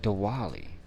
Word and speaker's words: Diwali: But Diwali, you pronounce the W with a V.